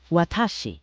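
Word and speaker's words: 私: Watashi, pronounced watashi, means I.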